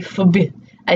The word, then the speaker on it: FBI: I don't say FB, I say FBI, okay?